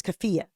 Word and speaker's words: keffiyeh: Okay, so there's one car that's a Cybertruck with I've never figured out how to pronounce it. It's keffiyeh.